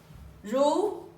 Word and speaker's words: 如: So, basically, here we're gonna write down important thing called fu, jing, ru, tian. 10. Yeah. Okay, That's I'm good. gonna put down the pronunciation.